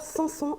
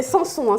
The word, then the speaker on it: Samson: que je prononce bien c'est samson s'est pas samso bas après je pense